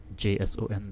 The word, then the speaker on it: JSON: the video things like specifications uh soap XML JS o n that is pronounced as Json and rest look them up